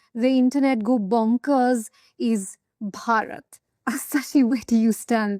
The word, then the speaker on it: Bharat: One name that has the internet go bonkers is Bharat Assachi. Where do you stand there? That's where I absolutely insist. When I speak in Hindi or Mallayalam, I say Bharat and when I speak in English, I say India.